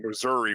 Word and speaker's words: Missouri: I I was making a joke because of what I said about petty fat living in Missouri, which rhymes with misery.